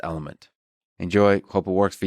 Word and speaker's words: LMNT: Spelled LMNT, but pronounced Element.